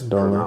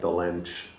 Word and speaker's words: Dolenc: It's Dolenc, pronounced yeah. like Dolenc Yeah. in the region. It has like a hyphen on top of the C, but Right.